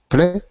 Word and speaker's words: play: play play good um and it's that a sound I want you to work on as well a because um do you speak French yes good okay so in French we have the the sound e but we don't really have that a sound a so that one is play it's a little bit different than the E that we make in French but um